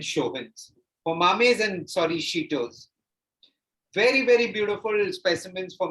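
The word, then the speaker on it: shito: is your thumb size that's called a sheeto it's called a cheeto and it's spelled s-h-i-t-o cheeto here so that is why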